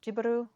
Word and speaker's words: Ghibli: I know that Miyazaki himself says Ghibli or Ghiburu because that's basically the Japanized version of the name Ghibli, because he named the